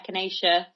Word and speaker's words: echinacea: would like actually like if you enjoying that echinacea she says with confidence that's how you pronounce it but if you're enjoying that -